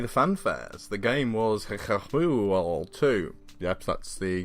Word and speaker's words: HIKIBYOU2: actually liked play the fanfare the game was hit her fool too yep that's the correct English pronunciation to 2d platformer from an indie developer